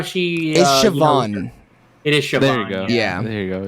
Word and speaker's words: Siobhan: lot actually yeah I like how she is Siobhan it is there you go yeah there you